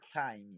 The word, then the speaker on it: climb: I mean, climb it. We don't say climb. This B is a silent letter.